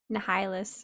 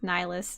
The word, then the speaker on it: Nihilus: yes people say yeah i really want to pronounce it nahailus or nihilus i'm pretty sure it's just nihilus though i need a dog